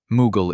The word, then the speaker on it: Mughal: Mughal is the Persian pronunciation of Mongol.